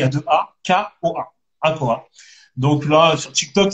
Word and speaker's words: Akoa: Ouais, mon TikTok, c'est A, Akoa. Ça s'écrit A, deux A, il y a deux A, K-O-A, Akoa.